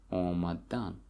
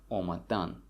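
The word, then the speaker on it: омадан: Omadan. Okay? And the stress falls on the last syllable, omadan.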